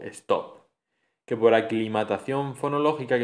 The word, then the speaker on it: stop: En los anglicismos se escriben igual, stop y sleep, pero se pronuncian con esa E protética, con ese sonido E protético, stop y sleep.